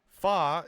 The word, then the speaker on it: Fa: Fa is the Cantonese uh pronunciation of Mulan's family name.